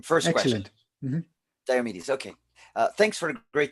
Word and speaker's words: Diomidis: Hello, Diomidis, right? Yes, thank you. Pronounce correctly your name. First Excellent. question. Diomidis.